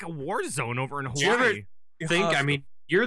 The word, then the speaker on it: Hawaii: and now i know i keep saying hawaii because over there they pronounce their w's as v's right that weird right so